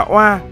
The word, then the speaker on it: Oa: giặc cướp thảo khấu từ Uy còn đọc là oa nghĩa là lùn nhưng